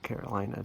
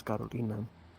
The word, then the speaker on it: Carolina: In English, you would pronounce it Carolina, technically. But in Spanish, it's Carolina.